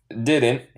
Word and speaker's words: didn't: Juntos es didn't. En inglés neutral sería didn't. En el acento estadounidense, el T final, decimos, se llama un glottal stop.